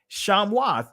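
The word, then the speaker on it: שמות: Hebrew this is the actual word here right shamoth is what you actually see for the name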